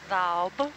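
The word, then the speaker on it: daob: So it's spelled D A O B. D A O B. Yeah. So it's daub.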